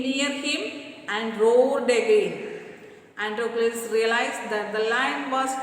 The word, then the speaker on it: Androcles: Androcles, pronounced as Androcles, was a slave.